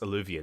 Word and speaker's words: eluvian: heard other elves say the word and it's pronounced eluvian and then we have this